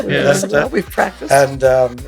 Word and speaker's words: Leicester: You'll be one of the few Americans that will go back and pronounce it properly. Not Leicester, as most Americans would say. Leicester.